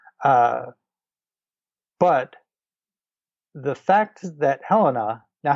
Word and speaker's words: Helena: not reading no uh but the fact that Helena now Helena is the right way to pronounce that right her name that's how I